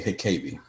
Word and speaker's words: Hikabi: Please feel free to correct me if I butcher your name, but the panel recognizes Hikabi. Yes, you did say my last name pretty spot on.